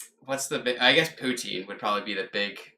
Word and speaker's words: poutine: I'm gonna need a pronunciation and a spelling on that one. So Poutine.